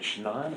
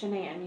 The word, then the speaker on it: Shenan: So, I understand that you are pretty good friends with Is it Shannan or Shenan? It's Shenan. You pronounce it like Shenanigans. Everybody calls her everything else